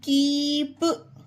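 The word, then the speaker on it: keep: ई आया है ना जिस भी वर्ड में डबल ई है तो उसका ई दीर्घ उच्चारण होगा एस एल डबल ई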